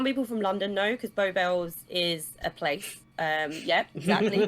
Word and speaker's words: Beau Bells: Yes, Beau, innit? It's like Bowie free.